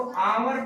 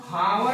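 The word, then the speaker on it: hour: यहाँ इसको आवर पढ़ते हैं घंटे को। घंटे को इंग्लिश में क्या पढ़ते हैं? आवर। हावर नहीं पढ़ेंगे, नॉट हावर, that is आवर। एच is silent here, H silent है यहाँ पे, एन लगेगा।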